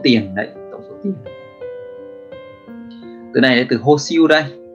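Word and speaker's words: 保守: Từ này là từ hô siêu đây, à quên, âm Hán của nó là từ bão và từ thủ.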